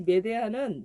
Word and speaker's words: 메데아: 이 메데아는 메데이아라고도 발음하기도 하는데요.